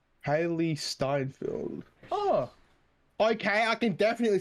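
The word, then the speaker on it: Hailee Steinfeld: what's your name uh haley steinfield i think is how you pronounce it hailey steinfeld oh okay i can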